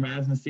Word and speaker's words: Razi: Razi is how you say it now.